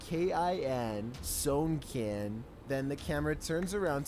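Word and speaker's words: Sewnkin: First, their name is spelled out letter by letter, S-E-W-N-K-I-N, Sownkin.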